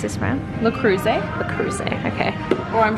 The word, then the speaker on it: Le Creuset: How do you pronounce this brand? Le Creuset.